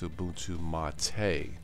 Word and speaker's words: Ubuntu MATE: If you are a newbie, definitely check out Ubuntu Mate, and it is pronounced Ubuntu Mate.